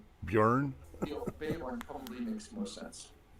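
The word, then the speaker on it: Björn: And for the Swedish people, it's BJO with a slash through it, RN. There is no E, so Bjorn. And that's more of a y sound. Yeah. Bjorn.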